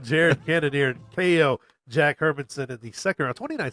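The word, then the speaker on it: Hermansson: Is that how you pronounce it? Hermanson.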